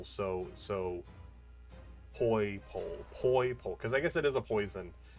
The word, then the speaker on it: Poipole: Poi, or like rhyming with toy pole. Poipole. I think it sounds more like purple, since it's also purple. That's at least my thought. Poi like poison, and then pole like pole.